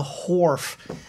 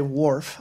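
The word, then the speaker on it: wharf: located here at the horf and um not a lot of people pronounce it that way i just like to make my pronunciations phonetic so i don't say worf i say horf and if you join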